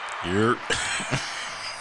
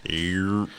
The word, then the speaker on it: Yerp: Say it like it's one syllable. I walked right on up there. I was like, "Yerp." Go ahead. I was like, "Yerp."